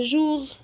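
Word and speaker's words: jour: نو طيب احنا اتفقنا الاس مش هتتنطق والار بنطقها ار او غ زي ايه بقى يوم يعني جوغ كل يوم توجوغ صباح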